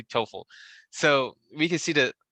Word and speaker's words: TOEFL: do you pronounce that i keep saying t-o-e-f-l score yeah you can say i know that's a different score or 12 toefl oh you can say t-o-e-f toefl yeah you can say